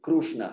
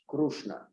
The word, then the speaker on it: Krishna: Hare Hare Krishna yeah they even sometimes spell it k-r-u-s-h krushna yeah so so it's good to be aware of the actual of the root uh pronunciation of the actual pronunciation of Sanskrit which is not just